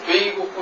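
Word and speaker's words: 米国: 그래서 사실은 일본 발음으로는 이게 메이로 나지 않고 베이로 나요. 그래서 베이고쿠 이러는데 이건 사실은 일본 사람들이 잘못이에요.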